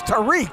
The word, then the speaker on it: Tarik: Tarik, like Derek. Tarik Zaina. And I only had one beer. My man from Gibraltar looking good. And all the people watching in Morocco tonight are saying, it's Tarik.